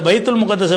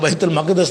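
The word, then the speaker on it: بيت المقدس: அந்த பைத்துல் முகத்தஸை பற்றி என்ன செய்வாங்கன்னா, அந்த பார்சி சமுதாயத்தில் உள்ளவங்க பைத்துல் குதுசுடைய பைத்து, அந்த புனிதமான இல்லம் நம்ம ஜெருசலத்தில் இருக்கிற பைத்துல் முகத்தஸுங்கிறோம்ல, பைத்துல் முகத்தஸ் தவறான உச்சரிப்பு தான், பைத்துல் மக்தஸ் தான் அதுக்கு பேர்.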